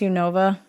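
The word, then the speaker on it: Unova: I'll sleep I just want to clarify it's pronounced u Nova ok I figured I was pronouncing wrong I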